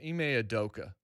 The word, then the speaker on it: Ime Udoka: And it's I think it's Ime Udoka is how you pronounce his name.